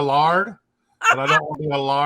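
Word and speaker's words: laird: If you are a landowner in Scotland, you get to become a lord, or technically how they say it, a lard.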